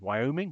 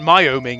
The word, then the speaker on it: Wyoming: the info about Wyoming Wyoming how do you pronounce that Wyoming we oming it isn't my oming it's weing thank you okay so oh oh